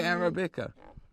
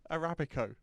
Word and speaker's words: Arabica: How do you say Arabica? Arabico. No, you don't. That's got an O at the end of it. It's Arabica. Arabica.